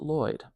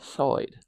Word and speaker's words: Lloyd: Well, in English, we call it Lloyd. This is a Welsh name. So in Welsh, it would be Lloyd, Lloyd, right? Lloyd. So it would be oi, Lloyd, like that.